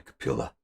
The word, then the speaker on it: Kapila: appeal but in the proper language you would pronounce the final vowel so it'll be capilla so now this is the story of kapiola